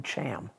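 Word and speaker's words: Chaim: how to pronounce it get some flat phlegm in the back of your throat and rattle it oh so that's how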